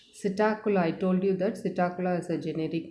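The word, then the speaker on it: Psittacula: i told you that sitakula is a generic name the first letter of this subtacular that means p here p is silent p is written in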